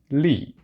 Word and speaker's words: Li: This character pronounces Li. Going to write it up here. L-I, Li.